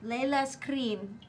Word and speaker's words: Leylas Krynn: Empress Layla Screen. Oh. Layla's cream.